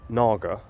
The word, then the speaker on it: Naga: that but let's um let's look at the Naga that's how you pronounce it you know the serpent likee be